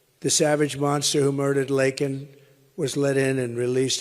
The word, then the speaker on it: Laken: He said Lincoln Riley, and Lincoln Riley is the football coach, or the coach. And this was in Congress, couldn't even get the name right.